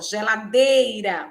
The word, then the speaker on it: geladeira: As palavras que têm a penúltima sílaba tônica são paroxítonas, ó, geladeira, o D é mais forte, e é a penúltima sílaba, né? É paroxítona.